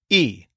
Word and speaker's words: y: yells and we listen the Spanish word for and is e spelled with the letter Y it's such a short sweet easy word just a single sound e and it's super easy